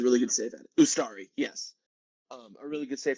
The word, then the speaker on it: Ustari: There was a great save from Untari. I forget how you pronounce it. The goalie before Calendar came on. They produced a really good save at it. Ustari, yes.